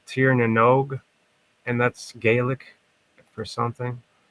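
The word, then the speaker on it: Tír na nÓg: This place called Tir na Nog, and that's Gaelic for something.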